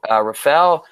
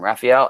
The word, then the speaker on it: Raphael: describe to you oh Rusty gave Rafel a uh I say I said his name wrong Raphael a subscription Rusty that's